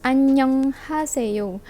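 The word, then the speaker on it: 안녕하세요: So dia sebenarnya adalah annyeonghaseyo. Annyeong, bukan annyeong. Dia adalah 1, 2, 3, 4, 5 syllable.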